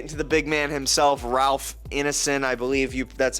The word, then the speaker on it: Ralph Ineson: And then let's get into the big man himself, Ralph Ineson, I believe that's how you pronounce his name.